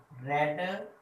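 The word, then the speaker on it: read: Have you रेड। अब देखें रीड की जो सेकंड और थर्ड फॉर्म होती है वो स्पेलिंग सेम होते हैं, उसको पढ़ा रेड जाता है, ठीक है ना। रीड रेड रेड होता है, ठीक हो गया।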